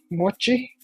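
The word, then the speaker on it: Moche: In earlier Peruvian culture, like the mochi, it's spelled M-O-C-H-E.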